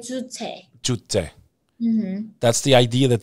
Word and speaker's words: Juche: Like Juche.